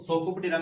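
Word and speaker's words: Psocoptera: देखिए P silent रहेगा इसमें, सोको, यहाँ से हम सोको पकड़ेंगे। और बुक पढ़ते पढ़ते नींद आ गई थी ना आपको, बुक लाइस, तो सोकोपटेरा में कौन सा इंसेक्ट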